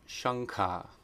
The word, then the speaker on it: śaṅkha: rules of combination, and if anuswara is being combined with the guttural sound, it is always pronounced nga, the N with the dot over it. So that's shankha.